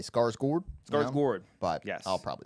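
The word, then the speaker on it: Skarsgård: I I am sorry that we that we offended you for mispronouncing his last name, but we're probably gonna keep saying Scarsgard. Yeah. Yeah. Just I'm gonna do my best to say Scars Gourd.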